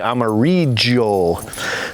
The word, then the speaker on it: amarillo: chilies left the Ahi Amarillo they pronounce the Double L with a J in the Amazon jungle region we also have some